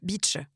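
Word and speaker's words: Bitche: Alors, c'est beach. B I T c h e beach. Voilà. Et une très belle citadelle à Beach d'ailleurs. La citadelle de Beach.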